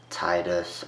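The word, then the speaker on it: Tidus: final fantasy 10 the characters kamari riku lulu yoona oren jacked brasska titus or people calling tedious he's real his name's pronounced tedious but i call him titus spell titus or however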